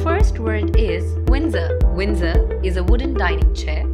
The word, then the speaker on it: Windsor: be pronounced as urn sir so the correct pronunciation of the word is Windsor recliner is a chair in which you can